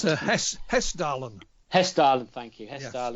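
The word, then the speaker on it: Hessdalen: of like earth flights or the the um hasselton lights as i pronounced it it's hess darling hairstyle and thank you hairstyle and uh lights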